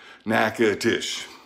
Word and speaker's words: Natchitoches: way it's reading nakedish just like it sounds naked dish meat pies some people